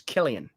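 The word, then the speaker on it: Cillian: So I was saying Sillian Murphy, you would say, "No, it's Killian." Yep. So it's Killian Murphy.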